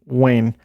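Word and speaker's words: Weyn: Greater Somalia, or Somali Wayne. That is spelled W-E-Y-N, so I think I pronounced that correctly.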